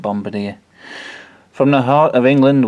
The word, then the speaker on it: Bombardier: the locals kept trying to convince me that it was pronounced Bombardier. I don't think it is. It could be though, but I'm pretty sure I've seen Bombardier adverts on Dave, and that they pronounce it Bombardier.